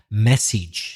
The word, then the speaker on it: message: a very typical mistake you stress the second syllable but it should be the first syllable message so a message is